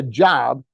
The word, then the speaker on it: Job: and by the way in the Bible it's pronounced job whole another story next everything is changing to